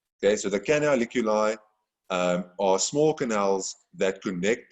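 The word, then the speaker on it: canaliculi: it okay can can i lick you live okay so don't please don't write anything about licking anyone's eyes in a test or exam but hopefully it does help you to remember how to pronounce it and spell it okay so the canoliculi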